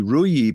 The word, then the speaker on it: Ruijie: Researchers at Clarity, that is CLAROTY, discovered the flaws that they say affect both the RUIE platform, that is spelled RUIJIE, as well as RUIE OS network devices.